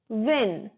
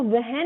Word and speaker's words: when: Next is when. When को वहन नहीं बोलेंगे, H हमारा साइलेंट हो जाएगा, बोलेंगे when.